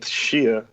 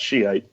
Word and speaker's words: Shia: Justin to Kelsey uh we went with Shia which I learned is the real pronunciation and not Shiite well so I'm an